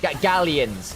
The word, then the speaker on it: Galions: Gallions. Gallions. Gallions. Gallions. At least that's the English pronunciation.